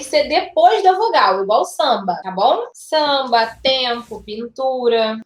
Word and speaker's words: samba: Então, na palavra samba tem 5 letras. 1, 2, 3, 4, 5. Mas fonemas só tem 4, porque esse M ele não é um som, ele é apenas um nasalizador.